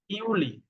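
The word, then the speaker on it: Juli: আর জুলাইকে বলে ইউলি, ইউলি।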